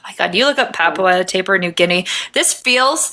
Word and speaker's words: Papua: So, in the rugged highlands of Papua New Guinea. That's wrong. Papua.